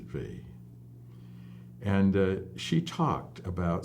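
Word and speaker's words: Weil: didn't she was French she didn't pronounce her name the German Way so she pronounced it V and uh she talked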